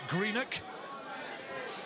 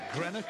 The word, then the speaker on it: Greenock: John Simps0n, who comes from Greenock. Not Greenock, as he likes to point out. He said, let's have the Scottish pronunciation.